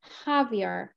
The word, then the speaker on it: Javier: Javier, এটাকে Javier বলে না, Javier. It's like a Spanish name, so it's pronounced Javier.